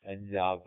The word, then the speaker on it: Endaf: Endav, I should say, let's pronounce it properly, is still listening, but